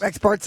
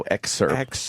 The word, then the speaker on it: excerpt: Experts are important to hear them talk. No, excerpt. You're saying it wrong, stupid.